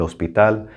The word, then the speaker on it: hospital: this word el hospital now the h is silent remember el hospital it means the hospital